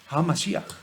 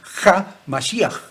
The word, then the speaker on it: HaMashiach: HaMashiach. Lo pronuncian mal, porque dicen HaMashiach. Y no se dice Ha, porque la palabra He, no es J. No existe la J en hebreo. No existe.